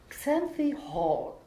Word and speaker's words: Xanthi Hall: Dann haben wir Xanthi Hall. Das ist, so spricht man es richtig aus.